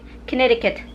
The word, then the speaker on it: Connecticut: that connected cut because I couldn't because I pronounce it like an American here like Americans like Connecticut the first thing is the coming I heard